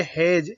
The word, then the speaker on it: hedge: होता है उसको बोलेंगे हेज, HEDGE। अब यहाँ पे डी का उच्चारण नहीं होगा, डी यहाँ पर साइलेंट होगा।